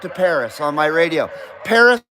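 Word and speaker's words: Perris: Paris, California. It's spelled P-E-R-R-I-S, Paris.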